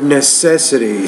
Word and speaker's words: necessity: at the one word necessity so the stress is on the second syllable that word necessity school